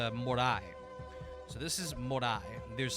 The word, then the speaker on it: Moray: I believe it's called Morai, and I'll spell that in chat. I know it's spelled Moray, but I believe it's said Morai.